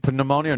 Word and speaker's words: pneumonia: Pneumonia. No. The P is silent.